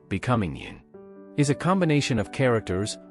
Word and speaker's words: 您: We use this Vietnamese cultural association to help you remember that yin is pronounced with a rising tone towards the end to express respect.